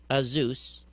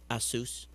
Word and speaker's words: Asus: machines and sony toshiba azus probably pronounced that wrong asus a-s-u-s um all had